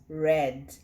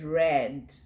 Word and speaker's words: read: like read read but what makes it different when it's used in the past is the sound so you pronounce it as red i read i read